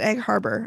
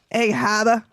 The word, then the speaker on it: Egg Harbor: I was very upset when he pronounced it Egg Harbor. I'm like, come on. Come on, Steve. You know how to say Egg Haba. Egg Haba, New Josie.